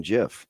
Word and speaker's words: GIF: The G is the hard G.